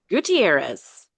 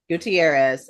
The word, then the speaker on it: Gutierrez: we're talking about Jessica is it gutterz do I say it right when I say that gutterz Gutierrez Gutierrez okay I knew I'd mess